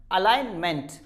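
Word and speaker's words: alignment: कुछ एग्जाम्पल्स आपके सामने हैं, रिजाइन, साइन, फॉरेन, गाड़ी का करवाने के लिए जाते हैं हम, अलाइनमेंट, अलाइनमेंट, इट्स नॉट a meant, it's a meant,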